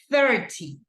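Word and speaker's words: thirty: can do it better it's 30 okay like like this like your thongue it has to put it out right it's like 30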